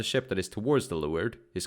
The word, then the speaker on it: leeward: Leeward, pronounced leeward, also known as downwind, is the direction in which the wind is blowing.